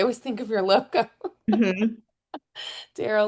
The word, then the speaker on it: Darrow: Uh when people always say or sometimes they'll say your name wrong uh Daro or something and I'm like no it's like the arrow because I always think of your logo Darl like the arrow.